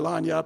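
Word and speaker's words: lagniappe: We call it lanyap. I know other people, there are great debates how you say it, but it means a little something extra.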